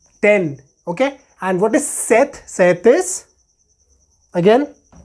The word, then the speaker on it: sept: cinq, cinq, six, six, sept, sept. Note, we are not pronouncing this P here. We are just pronouncing set.